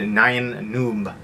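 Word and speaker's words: Nien Nunb: right there and yeah there's been so many different pronunciations I've heard of this but pretty sure George Lucas said Nan Noob so I'm going to go with that and road warrior the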